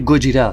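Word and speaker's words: ゴジラ: Déjà, sache que Godzilla se prononce en japonais Gojira, c'est un mélange de gorilla qui veut dire gorille et Kujira qui veut dire baleine.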